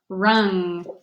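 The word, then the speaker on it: wrung: crew alright Krung Chung the W is silent rung all right oh are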